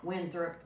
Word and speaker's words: Winthrop: Winthrop.